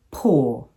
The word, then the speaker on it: poor: The first containing the short U sound and the second containing the long UR sound. Should, sure, pull, pour.